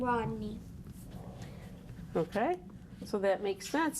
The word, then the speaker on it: Rodney: My name has the Y in it, and it steals the E cape. R-O-D-N-E-Y. So how do you say your name? Rodney. And what do you hear at the end? E. The E sound.